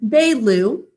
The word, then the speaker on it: Baloo: Say it with me. Baloo, 2 syllables. In the first syllable, it's B-A, 2 sounds. A is in an open syllable saying its name. Second syllable is L-oo. What makes the oo sound in that word? Dikshita? Ooh and book. Good. It's like the oo in book, but we say ooh.